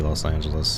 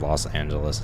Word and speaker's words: Los Angeles: its number maybe because Los Angeles is very long say it's like four syllables loss and gentleness 6/8 only one less